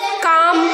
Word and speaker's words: calm: So L is silent when it comes after the letter A, O and U. Not only these. Walk, chalk, talk, calm.